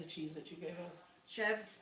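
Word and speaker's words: chèvre: chev.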